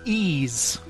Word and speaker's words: Ys: point I know there's a video game called why apostrophe s but they call it ease so that I'll really